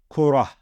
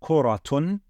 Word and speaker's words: كرة: word that you say, then we wouldn't pronounce this as kuratun, but rather we would pronounce it as kurah, okay?